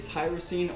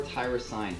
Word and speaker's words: tyrosine: on the list is tyrosine or tyrosine however you choose to pronounce it it's an energy booster